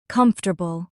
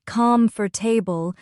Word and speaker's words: comfortable: Comfortable. Repeat slowly. comfortable. Notice it's not com for table but comfortable.